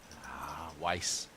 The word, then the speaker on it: Weiss: Is it Weiss or Wee? Weiss. Yeah. Yeah. We're It's anglicized.